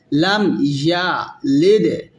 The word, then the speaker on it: يلد: Lam yalid. Dal is qalqala.